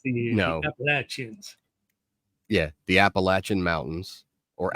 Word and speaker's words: Appalachians: The Appalachians. No, absolutely not. That is not how they're pronounced. Look, you can call the region Appalachia. Yeah. Or you can call them the Appalachian Mountains. It's a hard CH.